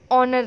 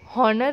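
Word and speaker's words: honour: तो हम कैसे रीड करते हैं, हम ऑनर रीड करते हैं, हम हॉनर रीड नहीं करते.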